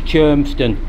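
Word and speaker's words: Cholmondeston: This is the lock with the funny spelling. It's pronounced Chermston when it looks anything else but that spelling, or pronunciation I should say.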